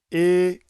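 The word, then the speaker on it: η: EA. That's how you pronounce ETA. It is similar to the way you would say an e in the word hey e but without the y at the end.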